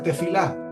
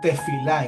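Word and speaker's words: תְּפִלָּה: Así se pronuncia, se pronuncia tefilá.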